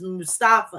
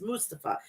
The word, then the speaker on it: Mustafa: I thought it was Mustafa. It's Mustafa.